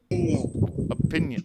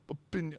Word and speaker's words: opinion: Opinion. Up, opinion. Up. Well, actually, it's not up. I often say opinion. But it's actually pronounced more like opinion, like an A.